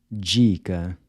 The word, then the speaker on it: dica: Dica.